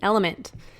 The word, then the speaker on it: LMNT: of our sponsors lmnt element it's spelled l MNT but pronounced element if you haven't heard